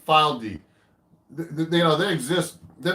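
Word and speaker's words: Fylde: guitar made in England they've called this spelled f y l d e file d they know they exist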